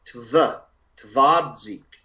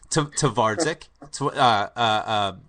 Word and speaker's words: Twardzik: Graham, it's Twardzik. Thank you very much, sir. Twardzik, Philip Twardzik.